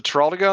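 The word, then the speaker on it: Teroldego: Yeah, Teraldigo.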